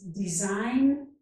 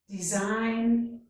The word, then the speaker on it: design: This is design and foreign. In each of these words, the letter G is silent. Gnat, gnaw, design, foreign.